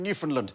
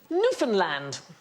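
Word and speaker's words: Newfoundland: I did that I did that murder in New Finland no it's New Finland but actually both men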